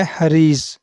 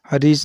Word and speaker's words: حریض: وبرکاتہ۔ Welcome to baby names diary. نام ہے حریض۔ حریض نام کے انگلش میں سپیلنگ ہے HAREEZ۔ حریض۔ حریض نام کی جنس